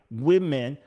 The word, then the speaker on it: women: learned it growing up you say the word women and there's an o but you pronounce it like an i women what you learn it